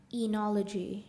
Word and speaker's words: enology: of speech it's a noun enology am i pronouncing it right say it again enology correct enology i n e o l o